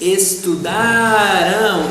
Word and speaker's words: estudarão: Estudar, eles estudarão. And here there is a nasal sound in the pronunciation.